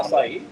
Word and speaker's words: acai: I actually don't know how to pronounce it. So Acai?